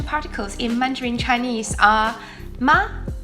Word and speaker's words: 吗: Like all Mandarin particles, these are pronounced in neutral tone, which should be light and quick.